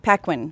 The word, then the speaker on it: Paquin: That makes her Anna, is it pronounced Paquin? Paquin.